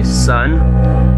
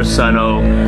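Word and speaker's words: Sunn O))): a new album by son monoliths and dimensions it's probably the most epic album name ever son or sonno I heard that you don't pronounce the O so I guess I've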